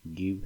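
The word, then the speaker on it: give: तो अगर हमारा देखा जाए वी के बाद ई आता है या यू के बाद ई आता है तो ई साइलेंट हो जाता है। एग्जांपल में आप देखिए एच ए वी E have है। जी आई वी ई गिव है।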